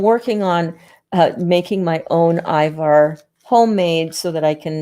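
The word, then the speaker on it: ajvar: loves food i'm using here this jar of ivar it's pronounced ivar in in eastern europe and this is a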